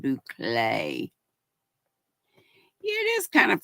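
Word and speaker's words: bouclé: or anything but Bay b o u c l e looks like bule but you pronounce it Bay yeah it is kind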